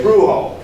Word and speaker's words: Bruegel: Tentei procurar a pronúncia holandesa, Bruegel.